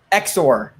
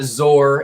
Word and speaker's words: XOR: pronounce x0r good question xor xor xor it's not zor it's not is z zero r it's not z zero r x and xor is